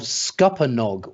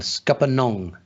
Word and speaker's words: Scuppernong: Scupper, as in Scupper. As in Scupper, with Nong on the end. Scuppernong.